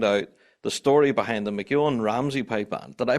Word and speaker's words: MacEoin-Ramsey: And we're about to find out the story behind the Mcan Ramsey pipe band. Did I pronounce that right?